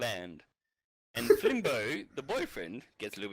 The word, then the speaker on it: Flimbo: it is so is it limbo or fimbo fimbo yeah F I mean f l i m